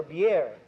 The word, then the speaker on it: bière: If you want beer, you have to ask for bière. You have to pronounce the I and the E both.